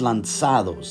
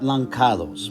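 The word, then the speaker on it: lançados: That it's like the C in facade, right? So it's lanzados, not lancados, right?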